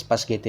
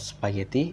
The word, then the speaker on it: spaghetti: Next is Paschetti metathesis. The use of Paschetti instead of spaghetti is another clear illustration of metathesis in spoken English.